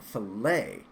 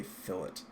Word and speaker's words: fillet: the instructor was saying I thought they were saying filet as in filet mignon I'm like interesting so I was actually mispronouncing it for a while but I assure you sadly it is a fillet not to be confused